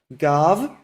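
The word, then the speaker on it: גב: So let's start with the word gav, gimel bet, and we all know that the last sound there is a v, gav.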